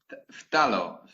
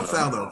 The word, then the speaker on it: phthalo: I never know how to pronounce because it's phthalo. Oh, phthalo.